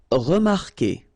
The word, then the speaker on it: remarquer: Okay, remember that when we've got this Q, and after that, well, vowel like here. Anyway, you've got to put this vowel U, even if you don't pronounce it. Okay, so it will go like que.